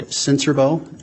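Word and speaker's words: Sincerbeaux: spell your last name my name is senserbo and my last name is spelled s-i-n-c-e-r-b-e-a-u-x sir how are you employed currently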